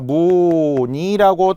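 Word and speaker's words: 무늬: 무니를 우리가 무니라고 당연히 누구나 다 발음하지. 무의 이렇게 발음하는 사람은 없어요. 이게 이유가 있었던 거죠. 자음 플러스 의는 이로 발음한다.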